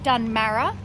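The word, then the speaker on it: Dunmarra: Let me just make sure I pronounce that correctly. Yep, Dunmurra.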